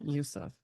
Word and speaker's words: Bassem Youssef: Bassem Youssef, I think I'm pronouncing that correctly. Youssef, yeah.